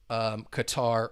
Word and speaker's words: Qatar: the World Cup in Qatar or Qatar. I know people use different pronunciations.